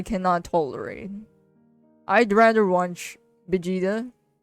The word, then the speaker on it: Vegeta: Vegeta. Yeah, that's how we pronounce it here. But some people call it Vegeta for some reason.